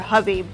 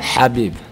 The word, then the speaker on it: Khabib: where I asked you if it's Khabib or Habib, and apparently both of those are wrong. That doesn't matter. Say it correctly for everyone out there. Habib.